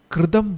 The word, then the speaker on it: Kritam: കൃതം. കൃതം, കൃതം, അതാണ് ഉച്ചാരണം കേട്ടോ, കൃതം.